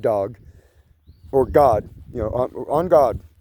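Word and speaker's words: en garde: It's not on god it's on guard. On guard touche you know it's on guard. But the Brits say on God. On God. On God. Touche. On God. You know, Three Musketeers. On God. E N G- A R D E.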